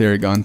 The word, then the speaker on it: Aragon: the future yes sir it starts with an A but yeah it's pronounced Aragon thank you for hearing my testimony yes sir um my name is Aragon I came to this